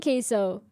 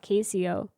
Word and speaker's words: Queso: We're not doing queso. Actually, I found out recently, as in like the last 6 months, that his name is pronounced queso and not Casio. I always thought it was Casio.